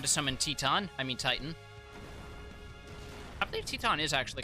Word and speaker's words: Titan: summon teton i mean titan i believe teton is actually closer to the enable what's up i believe teton is actually closer to the official greek pronunciation yeah which is part